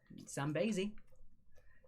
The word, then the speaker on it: Zambezi: They are on the Zambezi River. Zambezi for number 10. Zambezi. Zambezi. Zambezi. No, Zambezi. It's an E sounding Zambezi.